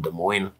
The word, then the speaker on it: Des Moines: People can't pronounce. I believe it's Des Moines.